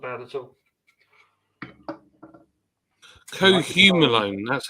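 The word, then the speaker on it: cohumulone: Cohumalone, that's how you pronounce it. Cohumalone.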